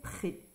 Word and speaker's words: prêt: navé sur le buffet il est prê ici on n'entend pas le S pardon on nentend pas le T le T par exemple